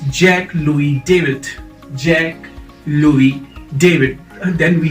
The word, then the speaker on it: Jacques-Louis David: another you know artist uh how do you pronounce this jackass jacquez louise david no it's jack louie david jack louie david then we have these uh